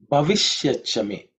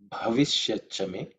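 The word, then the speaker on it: भविष्यच्च मे: The next mantra is Bhavishyachame. Bhavishyachame. Bhavishyachame. In terms of pronunciation, the first letter is Bha. Okay. Bha, which is fourth letter in the Pavarga. So it has to be aspirated.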